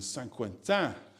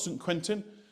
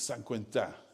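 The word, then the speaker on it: Saint-Quentin: Hello Casey, I'm joining from Nashville to to join us here in San Quenta. So it's not St. Quentin which might look like it is San Quenta is is the way they would pronounce it here.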